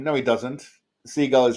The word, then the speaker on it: Seagal: Seagal is how it's supposed to be pronounced.